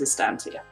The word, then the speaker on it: Estancia: I had to ask is it Estancia or Estancia estantia it's stantia okay yeah don't worry a lot of people get a very various different pronunciations but it is Estancia Estancia all right I'll